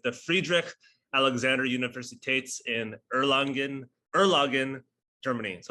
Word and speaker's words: Erlangen: Erlangen.